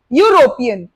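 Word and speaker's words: European: next one, यूरोपियन, अ यूरोपियन, again it starts with E, start तो ई से हो रहा है, लेकिन द कैच हियर इज कि इसका साउंड भी य है, एंड य इज नॉट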